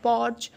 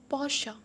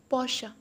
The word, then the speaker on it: Porsche: Porsche or Porsche, it's wrong. It's called Porsche. Porsche. E turns into A. Porsche.